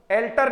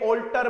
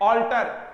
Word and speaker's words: alter: एल्टर नहीं बोलेंगे, ऑल्टर बोलेंगे। क्या बोलने वाले हैं? ऑल्टर।